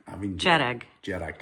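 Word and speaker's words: Dearg: Jarak. Jarrack. I mean Jarrag. Jarrack, like more like a J, but my Gaelic is more kind of town.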